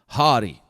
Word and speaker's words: haughty: not proud or haughty which is spelled h-a-u-g-h-t-y hottie damn I'm a hottie not proud or haughty